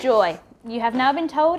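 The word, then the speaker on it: Joie: don't get me wrong i used to say joey but it's now it's joy you have now been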